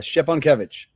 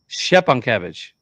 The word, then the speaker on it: Szczepankiewicz: So correct me on the pronunciation, Mike. I know I got to be close. It's Szczepankiewicz. Szczepankiewicz. Yeah. Nice.